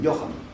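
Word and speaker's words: Johann: Правильно говорю, вообще не Иоганн, как мы говорим, Йохан по-немецки. Но у нас почему-то упор немецкая ха произносится как Г.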